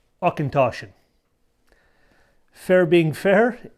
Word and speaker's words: Auchentoshan: akintoshan fair being fair it's a bit of a mouthful to say and pronounce its origin derives from scotch gaelic and means corner of the field so let's say it all together ah ken toshen there you go say